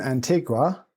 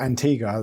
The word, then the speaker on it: Antigua: are you right now I'm in Antigua or Antiga that they pronounce it in Guatamala about 30k from Guatemala